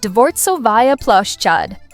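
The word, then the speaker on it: Дворцовая площадь: Starting at number 5, we have the iconic Palace Square, or as the locals say, Dvortsovaya Ploshchad.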